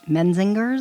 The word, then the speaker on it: Menzingers: Um I can't pronounce their name properly. The Mensingers. Okay. The Mesingers. Menzingers.